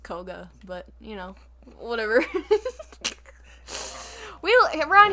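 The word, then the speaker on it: Kohga: uh master koga yeah kahoga kahoga kahoga sure it's just koga but you know whatever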